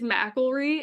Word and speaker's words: McIlree: I don't butcher it yeah it's um it's mry and it has been butchered many times um actually literally when I